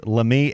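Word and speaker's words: Lamine: that's his last name it's uh it's it's lame l a m i n e yamal how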